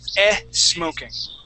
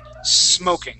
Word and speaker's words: smoking: smoking you were saying e smoking M okay so let's practice removing that that e okay so instead of saying s smoking let's say smoking try that please smoking